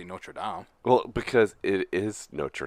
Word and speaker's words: Notre Dame: Americans pronounce the school Notre Dame. Notre Dame. They pronounce the place Notre Dame.